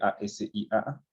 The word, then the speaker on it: ASIA: Entonces, se llama escala de Asia, así como se escribe, A-S-I-A, Asia, como el continente.